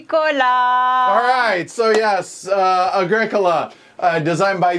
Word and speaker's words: Agricola: of oh right yeah so Agricola emphasis on the second syllable is Latin for farming